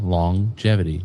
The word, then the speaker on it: longevity: Did you know that you pronounce longevity with two G's in it? And even though there's one G in longevity? No. Yeah. Longevity.